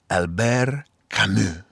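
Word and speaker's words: Albert Camus: is attributed to uh he's French so I'll say his name with a French accent that quote is attributed to Alber kamu or if I was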